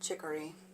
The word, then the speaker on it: chicory: You're here with me, Jen the Taxidermy Witch, and we're going to talk about chicory. Chicory rhymes with hickory.